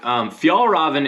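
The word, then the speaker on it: Fjällräven: coast hit pack so this specific fanny pack fjallraven is a swedish company i had to look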